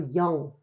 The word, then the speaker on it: 영: Okay, the digit 0 is pronounced as either 공 or 영. Okay, for telephone numbers, 공 is used.